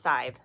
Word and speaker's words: scythe: um we are talking about we're talking about scythe or scythe I've heard it pronounced scythe and I've heard it pronounced sighs I started saying scythe because one of the